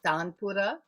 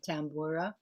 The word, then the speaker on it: tanpura: actual instrument itself well in indian pronunciation is tanpura american or english people like to call it tambora oh tampura you're right so they're